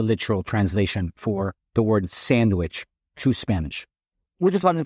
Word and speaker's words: Sanguich: It's the typical tale of, what onomatopoeia, which is basically it's pronounced the way it is spelled, but pronounced in Spanish, right? We don't use the DW in Spanish. We almost translate that into G.